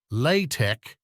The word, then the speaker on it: LaTeX: LaTeX, pronounced LaTeX, is a typesetting system widely used for the production of scientific and mathematical documents.